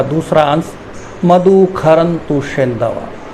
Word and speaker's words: क्षरन्तु: प्रथम खंड का दूसरा अंश मधु खरंतु शेंदव, श का उच्चारण ख करके किया गया है।